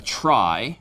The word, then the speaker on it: trie: and call it a try which is short for retrieval which is pronounced strangely different but a try does